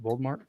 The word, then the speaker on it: Voldemort: Voldemort?